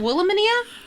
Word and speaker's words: Wilhelmina: Wilhelmina.